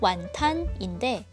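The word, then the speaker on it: 餛飩: 어떤 의미가 있는 걸까요 사실 완탕 훈툰의 광동어 발음이 고착화한 단어입니다 즉 중국 표준어의 훈툰 광동어로 읽으면 완탄인데 이걸 다시 한자로 음역 하니 비슷한 발음인 윈툰이라는 단어를 쓰게 된 거죠 홍콩의 유명한 드럭스토어 왓슨을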